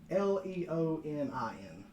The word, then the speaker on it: leonin: storm uh storm Ward who is a leam or Leon or however you want to pronounce it the LI yeah what is he it's l e o n i n leonin yeah sure fa's taking